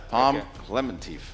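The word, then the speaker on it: Pom Klementieff: Palm Clementief.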